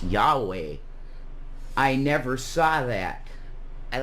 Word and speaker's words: Yahweh: my initials are y w e which you pronounce that out it's Yahweh yve mhm Amanda Breck said to me I don't